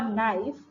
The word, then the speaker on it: knife: And in the word no or knife, the letter K is silent.